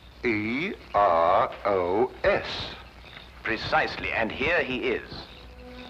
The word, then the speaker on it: Eros: A slight confusion on the lady's part. Probably the influence of Cockney stagehands. She added an H where there shouldn't have been one. What? Then spell it as she spelled it, but without the H.